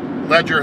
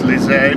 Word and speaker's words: Leger: I'm not saying that right because George Ledger was actually German. It's Lize, but it's spelled L-E-G-E-R, so nobody knows what the heck I'm talking about when I say Lize.